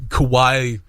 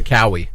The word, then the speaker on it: Kawhi: Let's go see Kawhi. Or they'd probably mispronounce his name if they didn't know that. Let's go see Kenny Leonard. This kid Kenny. I heard someone pronounce it Cowie.